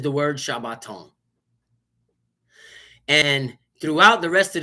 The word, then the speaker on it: Shabbat: The Shabbat.